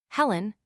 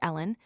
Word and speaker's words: Helen: Helen, unfortunately generally pronounced Ellen, was used from the first in Scotland, Eene or Ailen in Ireland.